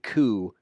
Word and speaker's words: coup: to come back to castro valley and and ku might be a two dollar word it might